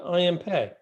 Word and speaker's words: I.M. Pei: I'm pretty sure it's pronounced Pei, even though it's p e i. It is. Yeah, I.M. Pei. I thought I'd been from mispronouncing it.